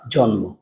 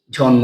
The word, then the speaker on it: জন্ম: পদ পদ্য আরেকটা হচ্ছে জন্ম। এখানেও ম ফল আছে। এখানেও ম ফল আছে। কিন্তু এখানে ম ফলাটা উচ্চারণ করছি জন্ম বলে।